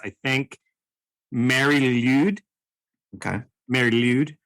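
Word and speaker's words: Mari Lwyd: Mary Lude. Okay. Mary Lude. So it's Lude is L-W-Y-D. That is a strange assortment of letters. It's probably like a guttural sound.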